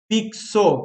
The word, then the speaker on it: fixo: F de faca, ó. I, Ks, né? KS, ó. 2 sons. E ó. Então ali tem F, I, K, S, O. 5 foneminhas.